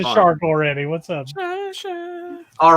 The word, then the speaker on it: Shi: pronounced Third shy.